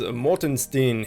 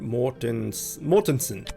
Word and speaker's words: Mortensen: Next is Morton Steen. He's quite a few levels above us. Is that even how you say his name? Mortensen. I always call him Morton Steen for whatever reason.